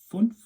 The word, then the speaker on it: fünf: 5 is fünf. Fünf. You can see the 2 dots above the U, that is an umlaut. So that sometimes changes the pronunciation of vowel sounds in German, so fünf. 6 is sechs, sechs.